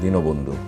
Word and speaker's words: দীনবন্ধু: একইভাবে দন্ত নয়ের সাথে একটি অ আছে, এই অটা ও এর মতো উচ্চারণ হয় দীনবন্ধু।